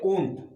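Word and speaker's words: won't: Fourth will not है, इसको हम लोग पढ़ते हैं ओंट, और अमेरिकन में भी इसको सेम प्रोनाउंसिएशन होता है। ब्रिटिश और अमेरिकन में इन दोनों वर्डों का विल नॉट को हम लोग बोलेंगे ओंट, और अमेरिकन में भी बोलेंगे ओंट।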